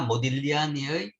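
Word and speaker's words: Modigliani: 쓴 엠카 쪽으로 좋은것 앤 2g 는 묵음 입니다 잘못하면 봇 이효리 아니라 그러는데 이 걸치는 묵음 이라서 아니었고 그러니까 뭐 딜리 아니 나오겠습니다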